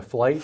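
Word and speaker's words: Flygt: Flight flight. Flight. F like flight. Like I'm taking a flight. So the G silent. Yes. F L GT. But like flight.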